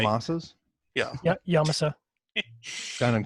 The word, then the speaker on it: Yamasa: Yamasas Yeah. Yeah, Yamasa. down in Costa Rica. It's actually Yamasa, but that's right.